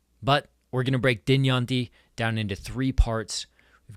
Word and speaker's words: Dynjandi: So, it's not Dynjandi, but Dynjandi. You want to make sure that the emphasis is on the right syllable.